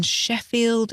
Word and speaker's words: Sheffield: exactly as they're spelled the double F in Sheffield is pronounced as one letter and the same at the end of Cardiff and on the words